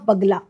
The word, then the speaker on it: बगला: और नाम पड़ा मां बगला। एक्चुअली कई लोग गलत इनको प्रोनाउंस करते हैं कि बगुला एक्चुअली नाम है बगला।